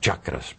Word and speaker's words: chakras: Sim, nós pronunciamos chakras, porque chakras é o termo sânscrito.